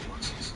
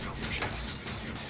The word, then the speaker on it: Aluxes: In Yucatan, Mexico, there are these gnomish spirits the Mayan people call Aluxes, pronounced like Alpuxes.